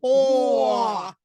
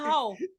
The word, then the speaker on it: whore: And she's a whore. He pronounced the whole word, the O-R-E, not hoe.